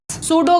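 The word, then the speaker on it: pseudo: जबकि ये क्या है सूडो solid सूडो solid सूडो का मतलब क्या होता है भाई सूडो का मतलब होता है फॉल्स सूडो का पी यहां पे साइलेंट होता है और इस सूडो का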